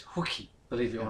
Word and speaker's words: Hulk: haven't they oh yeah Hulk or as as you pronounce his name properly is hookie believe it or not